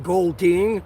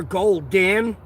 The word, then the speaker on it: Golding: That's why like when I say my last name gold ding, I like emphasize on the ding part and when I spell it out, I go gold ing. Cuz if I say gold ding, hear gold den and then they'll put e n instead of ing all the time.